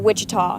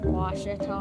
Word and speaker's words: Ouachita: University back in Texas everybody pronounces it witch but really it's was was was how would you pronounce it was it's was Baptist University get it right it's was people it's was wash